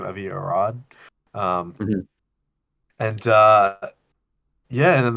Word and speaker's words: Avi Arad: Avi Arad.